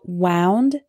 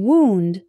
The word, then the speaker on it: wound: my finger wind wind and finally we have wound and wound wound is the past tense of wind meaning